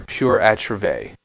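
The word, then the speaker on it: pur autre: school uh I'm sorry pure atra say it right yeah pure atra right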